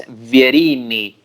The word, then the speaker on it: Vierini: Yeah, it pronounces like an Italian name. It's Vierini. Vierini. Verini.